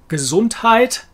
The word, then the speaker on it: Gesundheit: use of the word gesundheit kazoontite i think you would find the americans pronouncing it it's not too far away from the german gesundheit gesundheit gesundheit they use it